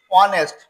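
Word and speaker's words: honest: এইচ ও এনই এসটি অনেস্ট এইচ এর কোন উচ্চারণ নাই বিধায় ও ভাওলের ভিতরে পরে এ আই ও ইউ এই পাঁচটা একটা অক্ষরকে আমরা জানি ভাওয়েল বলে।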